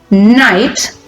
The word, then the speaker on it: knight: So we have the words exploit, aim, parson, craft, crew, complaint, night, be careful, the letter K is a silent letter, night, and the verbs to